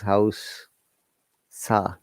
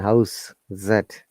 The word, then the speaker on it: house: house once again guys remember house with ass is noun that is verb so we need to be careful when we're pronouncing this word do you mean a verb do you mean no i'm sure it means nouns it is house sa and house zed similarly close close okay